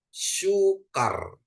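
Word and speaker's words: סוכר: Bapak Ibu ya oke samek dikasih suruk ya dia jadi su sedangkan kap dikasih kamat jadi k terus ada Res ya jadi bacanya sukar ya sukar perhatikan sukar ya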